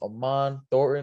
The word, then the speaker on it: Aman Thornton: I got the man himself, Aman Thornton.